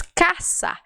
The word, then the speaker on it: casa: Então, casa no espanhol se diz caça. Se escreve do mesmo jeito, quer dizer a mesma coisa, mas se pronuncia diferente. Se pronuncia caça.